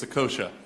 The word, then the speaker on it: Saccoccia: And he said, I said it's Saccoccia, like the bread.